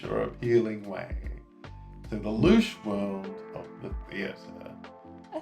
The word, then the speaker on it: louche: So let's just hear how we say that one. Louche. Yeah, louche. Louche. And that is something that is disreputable or sordid in a rakish or appealing way.